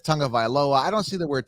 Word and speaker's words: Tagovailoa: I call him Tagovailoa, but it's Tagovailoa.